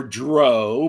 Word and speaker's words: drow: some Marxist or Dro because I've had people say it's actually pronounced dro. Yeah, I think they've said either is acceptable.